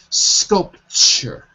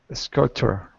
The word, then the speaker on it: sculpture: in the chat window sculpture sculpture that's it sculpture the the T in sculpture sounds like a CH like a CH like